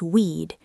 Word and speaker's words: we'd: And we would becomes weed. Sounds like weed.